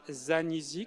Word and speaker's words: Zanisi: À côté de vous, Francesca Zanisi, comment on le prononce dans la langue d'origine ? Zanisi.